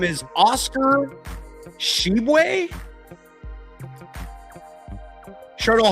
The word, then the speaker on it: Tshiebwe: Shardul, how do you pronounce Oscar Oscar Tshiebwe. Oscar Tshiebwe. His last name is spelled t s h i e b w e w e. It's Oscar Tshiebwe. Tshiebwe or Shibwe. I'm guessing the t is silent.